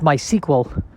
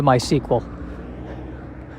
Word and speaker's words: MySQL: i believe it is pronounced my sequel as if it was spelled uh s-e-q-u-e-l and i don't know